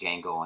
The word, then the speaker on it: Django: uh now I'm thinking Django Unchained where the D is silent I'm thinking we all